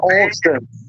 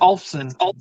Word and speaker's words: Olufsen: So Trunkback Jim says Bang and Olson have always been high end.